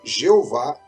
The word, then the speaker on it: Jeová: demais para ser pronunciado com o tempo essas vogais que eles colocaram elas se incorporaram junto a essas consoantes E aí nós vamos ter a pronúncia do nome Jeová conhecemos hoje na Língua Portuguesa ou Javé ou yavé é dessa maneira que nós chegamos à pronúncia ocidental do nome de Deus vale a pena dizer